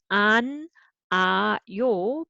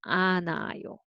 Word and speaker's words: 않아요: Who becomes silent. So you don't read it. So it becomes an, a, yo. But with reading together, n sound actually carry over. So anayo, anayo.